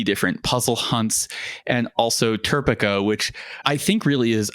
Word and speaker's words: TERPECA: So to make sure that we have a pronunciation that works in all dialects, it is definitely TERPECA.